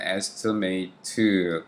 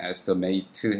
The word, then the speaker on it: estimate: 자, 그렇게 잡고 그 다음에 여기에서 일단 estimate, 견적, 이제 이게 동사로 발음이 되면 estimate 해가지고 추정하다, 견적 뽑다 이렇게 하는데 이제 명사로 쓰였네요. 그럴 땐 발음이 또 estimate 이렇게 바뀝니다.